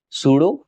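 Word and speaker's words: pseudo: देखिए आभासीय ठोस को हम इसमें पी साइलेंट हो जाता है तो इसमें हम उसे सूडो सॉलिड बोलते हैं।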